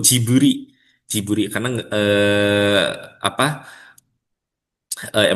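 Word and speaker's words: ジブリ: Nah orang Jepang pelafalan gibli itu jiburi.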